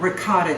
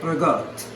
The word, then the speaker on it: ricotta: Okay, so now we have ricotta cheese, or as my Italian friends say, ricotta. Okay, that's how they say it, for real.